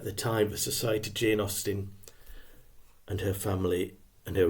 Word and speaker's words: Austen: at Society at the time the society Jane Austin and her family and her readers knew I